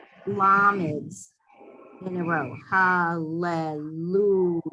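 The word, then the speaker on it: הַלְלוּיָהּ: It's 2 lameds in a row. But anytime you have 2 consonants in a row, like ro, mem, mu, you have 2 consonants in a row, you're going to pronounce the shva under the first consonant. Okay. Sound shva under first consonant. Right? So hallelujah. That's when you sound the shva under the first letter.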